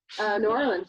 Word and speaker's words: New Orleans: New Orleans, yeah. It's got New Orleans. I'm not Southern, so I'm not gonna make it one word. It's 2 words.